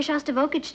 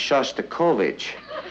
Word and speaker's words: Shostakovich: he's taking me to hear shots to voltage tonight honey I think that's pronounced Shostakovich we would like to